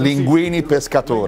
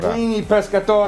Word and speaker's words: linguine pescatore: Linguine pescatore. Linguine pescatore. Right.